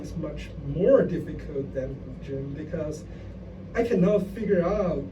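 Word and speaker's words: 古筝: Yeah, guzheng.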